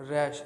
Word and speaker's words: Ruysch: तो एपिथेलियम यहाँ पे देखिए, एक मैंने लिखा है डच एनाटॉमिस्ट रैश. यहाँ पे स्पेलिंग मिस्टेक है. This is RUYSCH, right. RUYSCH. रूश नाम है, राइट.